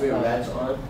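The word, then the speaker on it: Rettam: Red Tom? Red Tom. Red Tom. Red Tom. Yeah, Red Tom. It's like you're saying red, but you say Red Tom.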